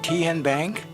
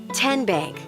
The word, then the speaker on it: Tenbank: How do you say the name Ken Bank? Nope. Tin Bank. Uh-uh. So, what is it? Tenbank. 10 as in Tennessee.